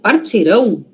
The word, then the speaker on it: partirão: Partiram, suave aqui, ó. É um M. Um M querendo ser O. Partiram. Agora, partirão, ão é O mesmo, né?